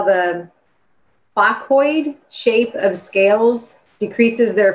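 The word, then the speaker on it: placoid: they're talking about because i can't even probably pronounce this word have you studied how the focoid shape of scales decreases their friction moving through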